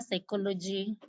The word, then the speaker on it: psychology: You can be given the letter P and you are told to write a word where P is silent. An example of such a word is what? Yes? Pneumonia, psychology.